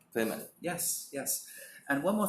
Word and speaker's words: Plymouth: Plymouth is pronounced Plymouth. Plymouth.